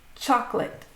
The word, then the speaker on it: chocolate: Okay, this next one is one of my all time favorite words also with the silent O chocolate, choco-late, two syllables, chocolate.